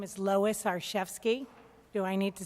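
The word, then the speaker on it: Arciszewski: good evening good evening my name is Louis our chefs key do I need to spell it certainly a our CIS ze w sk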